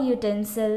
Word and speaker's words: utensil: So if we are pronouncing these words, you will find that it is not U, the vowel U, but it is Y-O-U. It sounds like Y-O-U. That's why it comes under exceptional case and we use a university and a utensil.